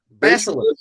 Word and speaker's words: Basilisk: I could never pronounce this name right. Basilisk. Basilisk.